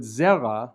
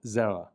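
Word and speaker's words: זרע: Now in modern Israeli pronunciation, the ayin, like aleph, is silent. And so in the word zera, we just represent the ayin with a backwards apostrophe, but it doesn't really have any sound, zera.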